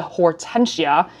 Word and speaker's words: Hortensia: so I did Google and make sure I'm pronouncing this bag's name correctly so it is called the Hortensia and of course I Googled what does Hortensia